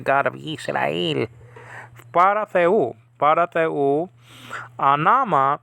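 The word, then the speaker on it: ὄνομα: Anama, name.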